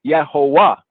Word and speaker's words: Jehovah: So if we were pronouncing it from the original translators, the so-called Jehovah, it would be Yehovah, Yehovah, because the V has a W sound in German.